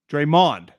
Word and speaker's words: Draymond: You put the emphasis on the Mond. Draymond.